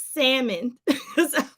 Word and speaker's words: salmon: the l is silent the l is silent it's salmon salmon they've been like